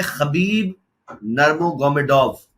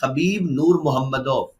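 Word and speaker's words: Хабиб Нурмагомедов: लेकिन जब यह अपना नाम प्रोनाउंस करता है तो यह कहता है कि मेरा नाम है हबीब नूर मोहम्मद। लेकिन वो क्योंकि रशियन है तो वो लिखने में इस तरह से लिखा हुआ आता है।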